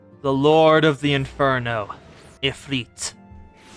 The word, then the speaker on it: Ifrit: Ifrit. And yes, it is pronounced Ifrit.